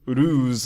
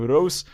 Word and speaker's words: Reus: Now it's worth mentioning that in this poem, the game Reus is not actually pronounced as Reus, but you must pronounce it as Reus so it rhymes with choose, which is the only problem in this poem in my personal opinion.